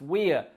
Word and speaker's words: we're: What about we are, the contracted form we're, W-E apostrophe R-E, pronounced we're, which is also the same as a weir, which is a part of a river, which is a barrier where the level of the river drops.